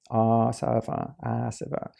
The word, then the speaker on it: āsava: introducing this new term when you have a line over the a it's a long it's pronounced long ah server and combining with elements